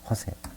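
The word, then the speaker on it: José: 그 특별히 그 라틴계에서는요, 그 스페인 사람들은요, 거기는 요셉이라고 발음을 안 하고 스페인에서는 H로 읽어요. 호세란 이름이 많아요. 호세.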